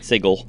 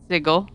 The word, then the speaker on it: Sigil: were doing this to name the city the same name as an english word that has a soft g sound and think that everyone would just know that it's supposed to be pronounced with the hard g oh well i will